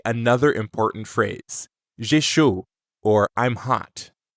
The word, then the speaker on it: chaud: The word chaud is pronounced like the English word show, but you stop right before you start closing your lips for the W.